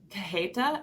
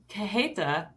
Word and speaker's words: cajeta: not very helpful, um, the J is more like an H Yep. sound. So anyway, I'm sure I'm not saying it quite right. Forgive me for that. But cajeta or cajeta is spelled Cajeta.